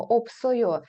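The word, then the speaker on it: 없어요: патчимі і у нас при вимові Ось ця с Вона ніби переходить на наступний склад і ми кажемо опсойо спробуйте сказати дміопсойо добре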